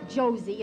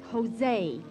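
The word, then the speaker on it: José: e turby it's not josie it's jose in spanish jay is pronounced like h oh well let's go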